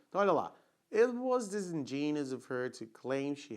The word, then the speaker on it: disingenuous: This in, ó, strong syllable lá. Desengine, olha o G, som de J. Não é igual Djavan. J. Desengine, né? Genus. Disingenuous. Ok? Like capricious. Né? O som de us no final.